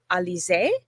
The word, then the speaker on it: Alisé: Today, we have Alisé.